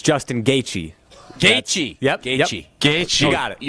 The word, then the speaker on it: Gaethje: Justin Gaethje. Nope. Gaethje.